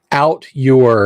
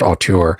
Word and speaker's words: auteur: I can say, he's an auteur, and somebody's like, it's pronounced auteur. Ah, yes, auteur.